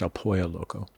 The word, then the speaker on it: El Pollo Loco: Two L's in Spanish, it's pronounced El Pollo Loco.